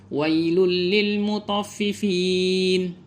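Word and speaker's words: وَيْلٌ لِلْمُطَفِّفِينَ: Jangan kita tahan bacaan, jangan wailul, karena ada yang seperti ini. Karena dia belum mutskin pemahamannya, dibacanya ditahan, didengungkan, dileburkan dan ditahan. Wailul, jadi tidak demikian. Yang benar itu hanya dileburkan saja tetapi tanpa dengung.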